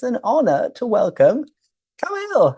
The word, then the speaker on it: Camille: Now, I was just introducing yourself, and then I was wondering, wait, how is your name pronounced? Is it Camille? Camille? What is that? Camille.